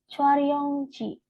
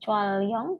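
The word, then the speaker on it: 촬영: Kemudian drama Chwaryongji. Ini bacanya R-nya naik ke atas ya, Robun ya. Sehingga bukan Chwalyong tetapi Chwaryong.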